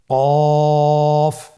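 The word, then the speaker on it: ق: কফ উচ্চারণের ক্ষেত্রে একটু মোটা করে উচ্চারণ করতে হবে।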